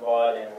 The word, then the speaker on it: Vaadin: And I work as software architect at Vaadin, which is, by the way, how we pronounce it.